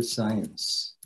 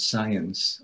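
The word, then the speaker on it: Zajonc: a book by Arthur science okay um his name is pronounced very differently than it is spelled okay and so Mr polish you wouldn't pronounce that science Arthur science as I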